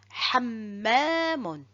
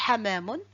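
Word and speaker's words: حمّام: Hamamun, hammamun. Regardez, si je n'insiste pas sur le mim qui porte shadda et je dis hamamun, voilà, hamamun, c'est quoi? Et hammamun, c'est tout à fait différent.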